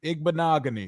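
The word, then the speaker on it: Igbinoghene: I just think of it like mahogany. Igbanogy.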